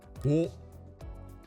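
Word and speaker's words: を: Wo. Wo. But in reality, you're safe to just pronounce it like the lone O vowel.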